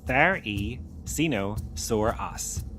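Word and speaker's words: Therizinosaurus: Theosinosaurus, pronounced the e cino soras, lived around 70 million years ago in what is now Mongolia during the late Cretaceous period.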